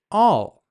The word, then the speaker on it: I'll: Remember, the quick pronunciation for "I will" but together is "all," just like the word for everything.